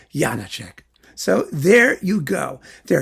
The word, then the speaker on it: Janáček: Prague several times like 50 times and they pronounce Yana check Yana check so there you go there are different check